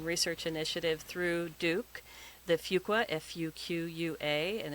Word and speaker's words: Fuqua: You can tune in to the Veterans Transition Research Initiative through Duke, the Fuqua, F-U-Q-U-A, and it's FU, not Fuq. It took me a while to learn how to say it, and I believe Dr.